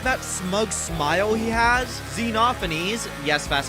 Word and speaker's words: Xenophanes: represents that despite that smug smile he has xenophanese yes that's how you pronounce his name is absolutely Furious that you